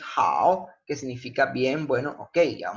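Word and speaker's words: 好: Hao, hao, hao, ¿sí? Hao. Fíjense cómo se pronuncia el tercer tono.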